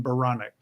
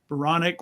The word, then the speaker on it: Baranek: bio is based on baronic baronic rhymes with bionic i said i told